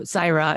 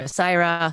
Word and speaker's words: Saira: it for people who can't half roll the r so saira is also fine but that's not how my name is pronounced and i'm not gonna i used to really care if people could pronounce the half r like the half roll the side you would hear like people say it with a d or whatever and it doesn't bother me anymore saira saito fine that's